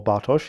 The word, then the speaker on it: Bartosz: So my name is Bart, or Bartosz, if you can pronounce Polish, which might be, difficult for you.